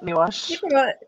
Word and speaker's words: Nawash: from the Chippewas of Nawash. Oh, I don't know if I pronounce it properly. First Nation. Close, yeah, Nawash.